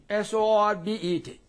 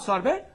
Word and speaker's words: sorbet: ET, T is there, pronounced as A. For example, buffet, duet, bidet, yes? Corbe, sorbet, S-O-R-B-E-T. Not sorbet, sorbet, buffet, B-U-F-F-E-T. And so on.